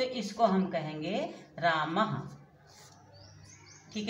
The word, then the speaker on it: रामः: इस चिन्ह विसर्ग का उच्चारण हा की तरह किया जाता है। जैसे बच्चों हमने कहा राम, राम हिंदी में राम कहा जाता है, संस्कृत में रामः।